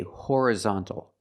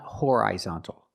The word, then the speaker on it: horizontal: the pronunciation is different we say horizontal not horizontal hor horizontal you can use the I sound like this is hor horizontal or you can use the relaxed uh sound uh hor horizontal but